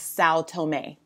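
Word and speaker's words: São Tomé: africa there is a small island known as sao tomei it is spelled s-a-o and then t-o-m-e saotome and you'll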